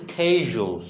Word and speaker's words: schedule: এই ওয়ার্ডটা দেখেন, জসিম উচ্চারণ করলে স্কেজুল। ওকে, বাট আমরা শেডিউল দুইটাই কিন্তু correct. স্কেজুল, শেডিউল, just British American. কিন্তু শিডিউল বলবেন না ভাই, শিডিউল আমরা বলি, শুধু আমরাই বলি শিডিউল নাকি?